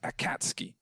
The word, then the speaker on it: Akatsuki: a huge amount of anime if much it's pronounced akatsuki apparently I can't ski a cat ski what